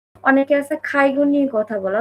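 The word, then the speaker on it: 介護: Student ভিসাতে আসছে, Japanese পারে, বোঝে, কিন্তু accent অনেকে আছে খাইগো নিয়ে কথা বলে, অথচ খাইগোটাই ঠিকমতো উচ্চারণ করতে পারে না। বলে কাইগো, কাইগো, কাইগো ভিসাতে যারা আসে।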